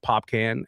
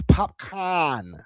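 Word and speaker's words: Popcaan: I understand the way that it's spelled out. It's C-A-A-N, so it would, I guess, come out as pop can, like a can of pop, right? But it's popcorn, and I'm not expecting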